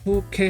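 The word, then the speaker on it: 風景: 단어를 좀 알아보면 음독은 이제 K라고 읽어요. 훈독은 없습니다. 그래서 음독 단어 한번 알아볼게요. 그래서 이거는 풍경이라고 해서 후케 하면 풍경을 말해요.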